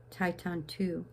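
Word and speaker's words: Thầy Thanh Từ: Now, here's a name, Tai Tan Tu, T-H-A-Y, Tai, T-H-A-N-H, Tan, and Tu, T-U, Tai Tan Tu. So when you see the T-H, it's pronounced as T, and when you see the T, it's pronounced as T.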